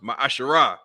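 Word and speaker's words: מעשר: Means 10th in Hebrew and is pronounced ma'asharah.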